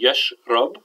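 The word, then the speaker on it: يشرب: So we say yashrab with a fatha, yadrus with a dhamma, and ya'arif with a kasra.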